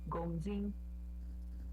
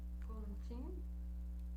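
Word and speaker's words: 公斤: Aí, Gongjin. Tudo no primeiro tom. Gongjin.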